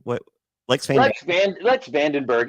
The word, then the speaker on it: Lex van den Berghe: My guest, how do you pronounce? Is this Lex Van Dan? What? Lex Van Dan? Lex Vandenberg.